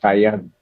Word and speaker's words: Kyon: Pronounced Kayan. That's right.